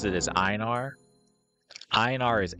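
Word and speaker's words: Einar: different some people say inar some people say enar I pronounce it as inar inar is s tier all the way iar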